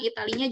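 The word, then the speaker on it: Italie: kalau kita lihat nih tulisan Italia juga Italia gitu ya tapi kita lafalkan di Itali kalau di bahasa Perancis ya sama bunyinya seperti dalam bahasa Indonesia Italy tapi tulisannya beda ya jadi berbatasan langsung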